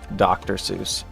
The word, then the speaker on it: Seuss: Jesus Jesus Jesus is related to Dr. Seuss. Although I hear Dr. Seuss's name was actually pronounced Dr. So does that mean Jesus was actually Jesus?